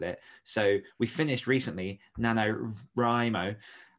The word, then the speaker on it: NaNoWriMo: you want with it so we finished recently nanowrimo which obviously is a difficult challenge it's